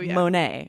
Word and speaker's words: Monet: And I'm like, Monet, right? This is a French artist. We also say Monet. We're trying to, or you know, we're trying to say it the way they would say it.